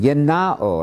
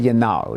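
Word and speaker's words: γεννάω: Yenao, I'm using the modern Greek pronunciation.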